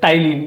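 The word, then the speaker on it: ptyalin: नहीं है जिसको आप एक स्पेलिंग होगा आप इसको पटाई नहीं लेकिन यहां पर पीस है साइलेंट तो टाइल या दूसरा नाम था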